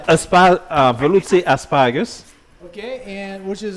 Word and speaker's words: Velouté: Velouté asparagus.